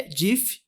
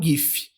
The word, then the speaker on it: GIF: E o discurso dele, em vez de fazer um discurso, ele colocou um DIF na tela que falava que a pronúncia é DIF e não gif.